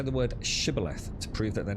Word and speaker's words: Shibboleth: When they're guarding the crossing of the River Jordan, and many people say the word Shibboleth to prove that they're not an enemy. Who pronounced it Sibboleth?